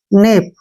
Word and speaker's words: knap: के आ गया ना, तो हमने के का उच्चारण नहीं करना है। इसको पढ़ेंगे हम, एन का उच्चारण न करेंगे, ए से ए की मात्रा और पी से पै। नेप, कनेप नहीं पढ़ना है, नेप।